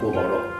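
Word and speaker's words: 锅包肉: it became popular soon At first, it was named Guo “bào” rou However, the diplomats pronounced it incorrectly and instead pronounced it as Guo“bāo”rou Over time it has become today's “Guobaorou (Crispy Sweet and Sour Pork)"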